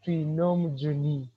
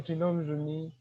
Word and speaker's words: Twinomujuni: all i would like to appreciate how you pronounced my name trinom juni so i like it the way you said it so um once again i'm tilnum juni uh a student at maker university pursuing bachelor